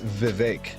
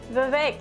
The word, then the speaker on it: Vivek: to pronounce his name it's Vivek he says it's Vivek like cake Vivek Vivek like cake I